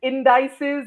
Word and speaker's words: indices: also have oh yeah, we have the math teachers with the indices and matrices, but it's Hmm.